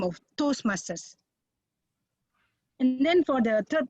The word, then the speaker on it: Toastmasters: Like Toastmaster, we are not Toastmaster, we are Toastmasters. Even for singular, we use behind the Toastmaster word. It's one word, Toastmasters.